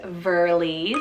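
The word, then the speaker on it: Verlie: name meaning the lord is god next is verly's spell v-e-r-l-i-e verly so fun means beaver stream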